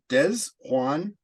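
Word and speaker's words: Desjuan: It's Des Juan Johnson because it's spelled D-E-S and then J-U-A-N Johnson, but he's a defensive end from Toledo.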